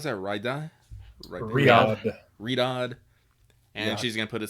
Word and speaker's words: Riyadh: She's gonna write sands of how do you pronounce that? Riyadh.